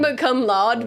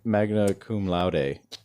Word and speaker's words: magna cum laude: I'm sure Latin, if you were I smart, think it's you would- magma cum laude, but I think saying magma cum laude is It's objectively funnier. magna cum laude. That's what it is.